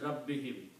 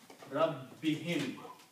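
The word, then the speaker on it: رَبِّهِمْ: And Rabbin and whom will be pronounced as Rabbihim. When you combine Rabbin and whom, it will become Rabbihim.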